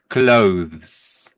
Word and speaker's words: clothes: The th in clothes makes the same sound as in the word 'the'. clothes.